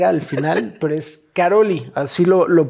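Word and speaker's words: Károlyi: mi mente todo este tiempo pensé que era Karol G. ¿Sí? Karol G. Bueno, yo lo que estuve escuchando en las entrevistas y documentales lo pronuncian Karolyi.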